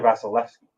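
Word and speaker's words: Vasilevskiy: How's my pronunciation of Vasilevsky? It's Andrei Vasilevsky.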